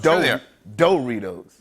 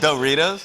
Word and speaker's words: Doritos: -They're not called doe-ritos. -Yes, they are. -I thought they were called door-itos 'cause you can make a tiny door out of them. -I say it like "dur-itos." Like, D-U-R. -You say da-ritos. -No, I say doe-ritos.